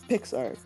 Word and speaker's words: PicsArt: So one of the big ones that helps me out a lot is PixArt, and it's spelled PICSART, and that basically helps me overlay other pictures on top of pictures.